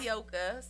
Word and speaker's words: Nayoka: Nyoka. So it's spelled Nayoka. Mhm. But when people are trying to pronounce it, Mm-hmm. I always say look at it as Nyoka.